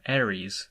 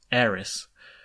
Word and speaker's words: Aerith: and as someone who grew up calling her Ares instead of Eris I along with a